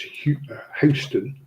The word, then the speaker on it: Houston: Although, if you go to America, they say in New York it's pronounced Houston, Yeah, and that existed before Houston in Texas.